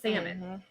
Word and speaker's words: salmon: it a different way so salmon yeah the l was silent yeah girl you are